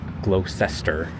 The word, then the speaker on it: Gloucester: it is I think it is no it's Gloucester Street which I wasn't sure how to pronounce it for I say glester oh and I'm foiled again thought I was